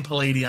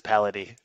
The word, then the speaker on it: Paladie: So we pronounce it two ways. So Paladie is the way that half my family says it, and my half of the family says Paladie.